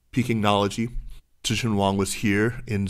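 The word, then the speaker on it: Pekingnology: n o l o g i g y pinology Tian Wong was here in Zurich I understand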